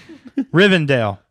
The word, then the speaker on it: Rivendell: Rivendell. That's how they say it. Rivendell.